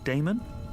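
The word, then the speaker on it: Daemon: How do you pronounce that? Damon, if you prefer.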